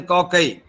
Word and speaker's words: cocci: The spherical shaped bacteria are known to the coccus, and singularly, and plurally they are pronounced as cocci.